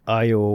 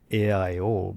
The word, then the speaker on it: Io: We say IO when we started we said AIO because we felt that somebody well people outside of Hawaii couldn't pronounce three vowels in a row. So for the longest time we said AIO. But truly it's a Hawaiian word.